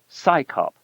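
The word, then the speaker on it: CSICOP: Its initials CS O P are pronounced as the acronym SCYOP, as if it's an organization of scientists performing a police function.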